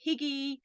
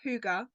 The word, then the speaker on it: Hygge: us knew how to pronounce it, because it is spelt like that, Hygge. So we were calling it Higgy and all sorts of different names, but it's Huga, and Huga is it Swedish for cozy, so